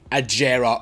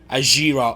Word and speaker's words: Agera: is the coning zeg aera or Aira or aera however the hell you want to pronounce it Different Strokes for different folks if you know what I mean so anyway I call it the aera personally and yeah apparently